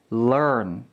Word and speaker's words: learn: 첫 번째 단어는 L이죠. learn. 두 번째 단어는 R 발음을 해야 됩니다. run, learn, run. 달라야 해요.